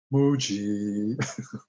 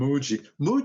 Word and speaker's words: Moogie: It's a moo. It's a definite moo, and then a gi, or it could be a g, moo-gi, I guess. Either way, but Mooji.